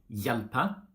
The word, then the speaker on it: hjelpe: For example, we say hjelpe, and in all these question words like hvem, hvor, hva, we don't pronounce the H.